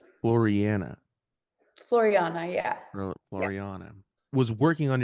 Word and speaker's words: Floreana: Now, do I have the the pronunciation of this right? Floriana. Floriana.